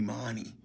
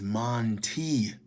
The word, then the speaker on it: Monte: pronounce my name properly they call me Mani my name is Monte every time I respond